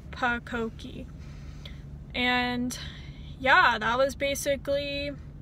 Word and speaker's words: pucokie: And I kind of combined it into a word and I pronounced it pucokie. So that's the phonetic spelling, is pucokie.